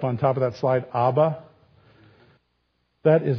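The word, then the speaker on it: אב: without the ba on the end just AB AB you actually pronounce it AB just means father so ABA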